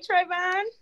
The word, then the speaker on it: Travon: Hey, Trayvon. How you doing? Is that the I am correct well. How are you?